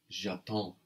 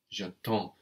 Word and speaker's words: j'attends: The D and the S just become one consonant cluster that is silent, so we're left with j'attends, j'attends.